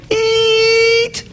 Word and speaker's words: Eet: She's here performing Eat. That's how you pronounce it.